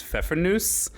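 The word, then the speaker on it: Pfeffernüsse: lot of consonants uh I'm actually pretty sure the correct German pronunciation is fenus but um we always call them fefr nuts growing up so it is you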